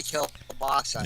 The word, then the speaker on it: kielbasa: Well, I was informed that I was mispronouncing. It's supposed to be kielbasa.